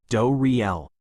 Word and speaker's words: Doriel: They're being cared for by Lady Doriel, pronounced Door Riel, an herbalist whose husband died during the attacks.